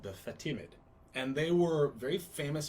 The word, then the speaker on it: Fatimid: groups were called the fatimid and they were very famous very powerful group the fatimid fatimid f-a-t it's like fat and timid mixed in fatima is that